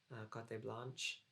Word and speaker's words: Cote Blanche: And so this one, which is Cote Blanche, it's pronounced the French way though, 1965.